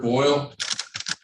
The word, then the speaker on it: Boyle: state his name for the record please boyle royal b-o-y-l-e right okay all right so